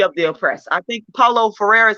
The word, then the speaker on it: Paulo Freire: I think Paulo Freire is how you pronounce his name, where he talks about the